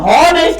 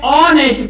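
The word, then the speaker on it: honest: ऐसे शब्द होते हैं जहां यच का साउंड क्या होता है? साइलेंट होता है, तो इसको हम हॉनेस्ट नहीं पढ़ते हैं, इसको हम क्या पढ़ते हैं? ऑनेस्ट पढ़ते हैं।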